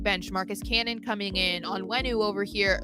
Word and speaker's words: Onwenu: Marcus Cannon coming in on wenu over here like or you know what I heard he says he pronounces his name onwenu I have to try and remember that's how he says it onwenu more you know um